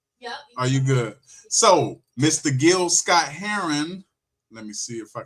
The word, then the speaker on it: Gil Scott-Heron: Not Jill Scott. Gil Scott Heron.